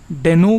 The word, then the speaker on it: Deno: First of ऑल, डेनो को हम डीनो बोलें या डेनो बोलें, तो रायन डाल जो कि क्रिएटर हैं डीनो के, उन्होंने खुद बोला है कि जो इसका प्रोनाउंसिएशन है वो डीनो है, ना कि डेनो।